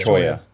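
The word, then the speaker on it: Cholla: so, uh little bit over to the the Chola coal power. This am I pronouncing that right? Choya. Choya.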